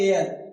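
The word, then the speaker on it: heir: एयर। क्या लिखा हुआ है? एयर। तो ई से पहले भी एच क्या है? साइलेंट। ठीक? तो यहां भी एच साइलेंट है।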